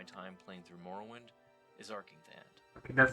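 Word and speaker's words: Arkngthand: I have to say that for me, one of the most memorable locations from my time playing through Morrowind is Arkingthand. Okay, that's how you pronounce it.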